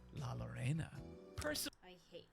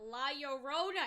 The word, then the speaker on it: La Llorona: of popular Mexican folklore La Lorena, I despise. Why did he say it like that? La Llorona. It's La Llorona. La Llorona.